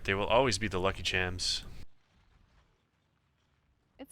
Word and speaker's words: Chams: told that lucky HS is actually pronounced lucky cams as in chameleon but this is just